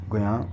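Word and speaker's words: Guillain: And multiple sclerosis, multiple sclerosis के बाद गुयां बारे सिंड्रोम, गुयां बारे, ये डबल एल साइलेंट है यहाँ पर, ठीक है, गुयां बारे सिंड्रोम।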